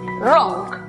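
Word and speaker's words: wrong: ejemplo que se escribe notamos que hay w antes de r al comienzo de la palabra por lo tanto es muda además es una sílaba cerrada por lo tanto aplicamos el sonido cerrado de la uv la pronunciación para la palabra equivocado entonces es rock la palabra arrebatada que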